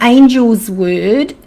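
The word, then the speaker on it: Angelsword: If you're familiar with the Australian bushflower essences, the angel's word or angel sword, same essence, different pronunciation, is the essence that cuts cords between you and another person.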